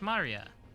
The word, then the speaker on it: Maria: Of course, like that, it's pronounced Maria.